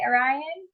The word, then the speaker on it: Orion: And so I was listening to all your stuff, Orion, and also, am I pronouncing it right, Orion? Yeah, it's like the constellation.